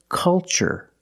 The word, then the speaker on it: culture: pattern so the pronunciation that's right it's ch the first word culture and the second word cultural also remember the first syllable is a short u like cup and up uh uh make a